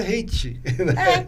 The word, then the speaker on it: reiki: Na verdade, é reiki, na verdade. Que aí se você for pegar a pronúncia da gente que usa no chinesa, né, da acupuntura, é chi. Mas tem locais que fala ki. Se eu não me engano, no Japão, eles não usam o chi.